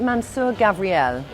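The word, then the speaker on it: Mansur Gavriel: Gavriel excuse me is it how do I pronounce it is it Mansoor Gavriel yeah but his designs are beautiful and unusual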